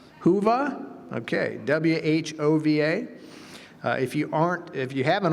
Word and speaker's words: Whova: Furthermore, we are excited to invite you to make the most of our conference mobile app, and the pronunciation may be lost here. Whova, is that correct? Whova?